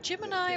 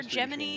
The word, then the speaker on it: Gemini: Uh I mean since 1959 with uh Mercury, Gemini, Gem, Gemini, Apollo, uh Gemini or Gemini, NASA and the Navy are both equally valid pronunciations in like any other skill.